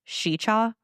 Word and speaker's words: Sica: so this is a legend of how sicha shicha whole cuz it's spelled Sika like s i CA but it's pronounced shicha so trips me up so chicha Hollow became